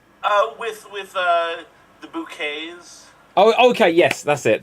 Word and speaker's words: Bucket: oh look just call me mr bucket it's pronounced bouquet right uh where are the neighbors uh hello